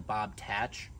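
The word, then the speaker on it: Bob-Tach: this machine and that is the Bob tack technically the dealer calls it the Bob tatch but I think that sounds incredibly corny and I like bobtack better so I'm going to continue to pronounce it like that until the day that I die here with the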